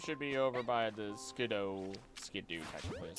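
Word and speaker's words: Skiddo: Alright, the Pancham should be over by the Skidoo, technically, is how you pronounce it.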